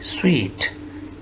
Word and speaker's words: suite: लिखा क्या है, पढ़ कैसे रहे हैं, स्वीट, स्वीट, तो ये कहेंगे स्वीट, स्वीट।